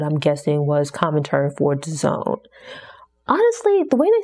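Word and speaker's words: DAZN: a few years ago I thought it was pronounced dazen it took hearing people mentioned the Zone multiple times to realize that's how the like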